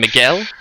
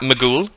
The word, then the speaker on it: Miguel: of red bien and miguel not pronounced magool as we learned still